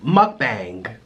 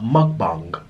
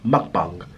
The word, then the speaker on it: mukbang: now Americans they say mukbang but in Korea a is long so it's pronounced a mukbang mukbang that's how you say